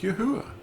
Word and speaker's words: Yahuwah: So it's Yahuwah in 4 letters, and it's pronounced Yahuwah. It's so simple.